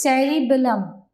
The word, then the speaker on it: cerebellum: What is the pronunciation of this word? Cerebrum. C-E-R-E, ceri, B-E-L-L-U-M, bellum. Combined word is cerebellum.